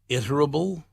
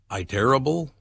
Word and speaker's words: Iterable: not sure marketing startup iterable i terrible how would you pronounce is it iterable don't know that one i-t-e-r-a-b-l-e iterable i'm going with iterable incorporated dismissed its chief